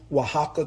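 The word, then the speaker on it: Oaxaca: to pronounce it, but I think it pronounced um queso wajaka cheese. Is spelled o a x a ca.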